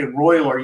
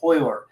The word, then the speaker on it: Royler: But they pronounce their R's with an H. So when you don't say Royler, you say Hoyler.